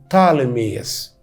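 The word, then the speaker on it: Ptolemy: اللغات الاجنبيه الحديثه دلوقتي وانت بتتكلم انجليزي يقولوا عليه تالميس البي الاولانيه عشان حرفين ساكنين في الاول فما ننطقش البي الاولانيه 305 قبل الميلاد اتاسست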